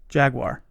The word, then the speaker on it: jaguar: psa it's perfectly fine to say jaguar jaguar right jaguar just two syllables say with jaguar jaguar